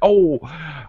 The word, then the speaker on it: owl: She said an owl. Okay, owl. All right, it has the same sound as like cow.